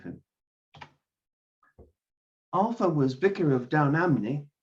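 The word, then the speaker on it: Down Ampney: alpha was vicar of down amne the p is more or less silent in gloucestershire where rafe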